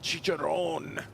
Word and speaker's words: Chicharron: they actually have a new car out called chicharron then you they make sure that you say it like that because otherwise they'll get mad at you and we don't